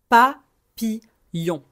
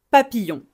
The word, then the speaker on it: papillon: Papillon. Papillon. Le son dans papille. Le ye c'est un son qui existe en anglais. C'est le le premier son de yes.